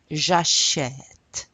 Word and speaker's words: j'achète: So this is pronounced j'achète, j'achète. You hear the j'achète.